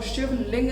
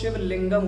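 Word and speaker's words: शिवलिंगम: तरह होता है हैं और शिवलिंग नहीं कहा जाता है उसे उसका सही उच्चारण होता है उस शिव लिंगम होता है लिंग जैसा कि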